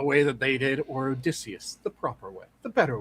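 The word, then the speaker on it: Odysseus: was the fact that they did the other pronunciation of Odysius. Odicious. Odicious. Odicious is like nails on a chalkboard to me. It is Odicius.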